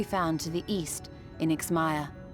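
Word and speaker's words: Yx'Maja: in IX Maya it's Maya I was closer the first time I said it because I accidentally misread the J as an I but that's how we're pronouncing this J as is done sometimes or rather could be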